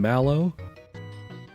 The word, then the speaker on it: Mallow: pronounce it like it rhymes with shallow. Call him malow.